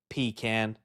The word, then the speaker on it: pecan: It's pecan. pee can.